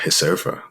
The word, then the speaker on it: Reserva: brand that I love hysterfa like um spelled like Reserva but Portuguese would like say hey and it's this little